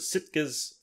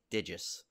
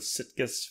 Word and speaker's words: Sitges: You know, until you said that, I'm pronouncing it in my head as Stygius all the time, and I've seen it written. I reverse the I and the T every time when I see all like our, all the directors and stuff we talk. I'm probably still mispronouncing it. I have no idea. No, I think you're right. It probably is Sitges, but an interview with